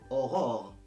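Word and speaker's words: aurore: الوغ اوغور هذه الكلمه اللي كتشوفوا دابا امامكم في الشاشه ماشي هي اوغور هذه كتنطق اوغور او و او.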